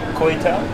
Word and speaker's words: kuey teow: Kuey Teow?